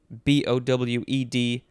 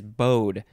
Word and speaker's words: bowed: right next is bowed b-o-w-e-d first form because the second form is bode but this one is bowed adjective from the 14th